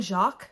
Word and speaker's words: Jacques: up redwall by brian jacques jacques i think is how you say his name again i read this